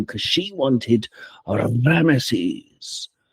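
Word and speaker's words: Ramesses: because she wanted a Rammeses or Hames as they pronounce it in Brazil but Rammeses for a child.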